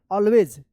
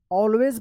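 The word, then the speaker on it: always: पे दो रूल है यहां पे ए के बाद सिंगल एल रहे या डबल एल रहे तो ए का औ उच्चारण होता है ना इसको क्या पढ़ेंगे ऑलवेज ऑलवेज पढ़ेंगे।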